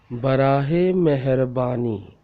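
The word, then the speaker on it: برائے مہربانی: Barahe meherbani. Barahe meherbani. This word is very difficult to pronounce, but you have to try again and again and listen carefully and repeat after me.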